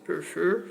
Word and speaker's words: prefer: the verb prefer buffer is a verb with two syllables two syllables the second syllable is stressed so we double the the r because it occurs in a stressed syllable prefer preferred let's move on